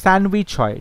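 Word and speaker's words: sandwich: দেখো স্যান্ডউইচে কি হয়, মাঝখানে ডির উচ্চারণটা নেই, স্যান্ডউইচ হয়, ডি উচ্চারণটা করা হয় না, বাট বানানটা মনে রাখার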